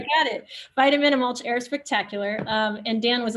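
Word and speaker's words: Vitamin-Amulch: a short film that i always have trouble pronouncing vitamin a mulch vitamin malt spectacular that's right i got it vitamin and mulch air spectacular and dan was a leading story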